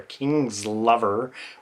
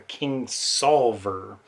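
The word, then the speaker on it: Kingsolver: previous video or two I pronounced her name as Barbara King's lover which apparently that's not it it's Barbara King solver um so anyway I've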